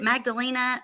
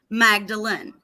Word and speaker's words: Magdalene: You got how is it Magdalena or is it Magdalene? Magdalene.